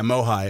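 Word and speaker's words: MOHAI: they're having this yeah migh that's what we all call it migh um it's because it's spelled Mo AI migh migh it's a lot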